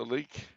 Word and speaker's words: lich: A, no, a Lich? like. A like. Lyke or Lich. It's a corpse. Oh, I didn't know it's pronounced that way. Leak or lich or leak. It varies.